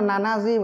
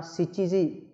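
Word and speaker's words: 七時: Người ta không nói là nanaji mà ta đọc là shichiji.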